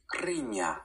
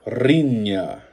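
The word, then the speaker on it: riña: Rinya. Rinya. You roll your R just like the Spanish one.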